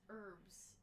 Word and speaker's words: herbs: It's herbs. The H is silent in herbs.